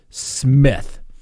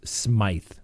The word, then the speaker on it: Smith: spelled s-m-i-t-h right the judge pronounced it smith the prosecutor asked ms smith potential juror you know a question only when she got to me i said now miss smith she goes actually it's pronounced smythe oh really okay i